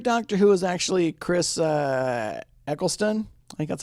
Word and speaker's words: Eccleston: end my favorite doctor who is actually Chris Eccleston I think that's how you say his name